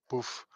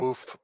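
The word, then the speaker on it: bœuf: Boof. It's actually Okay. bouf bourguignon. I've heard it pronounced that way before.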